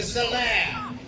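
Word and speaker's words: Salers: The Salaire, S-A-L-E-R, is how we pronounce the breed, from the Massif Central in France.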